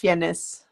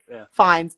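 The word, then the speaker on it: Fiennes: Well, I don't know how you pronounce his name. The actor Ralph Fias Fis Fines.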